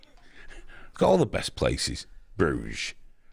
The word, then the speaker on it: Bruges: all the best places bruges bruges silent s there's no way to